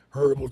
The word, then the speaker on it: herbal: Our topic of discussion today is tea, herbal tea, or herbal tea as you would pronounce it in the United States. Herbal, not herbal. They pronounce it elsewhere as herbal with an H.